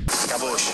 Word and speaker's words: KBOIX: par son nom qui on se demande comment ça se prononce caboche caboche caboche caboche caboche caboche c'est ça caboche et le mec qui